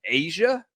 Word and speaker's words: A'ja: hold on a sec a apostrophe j a is pronounced asia why was she not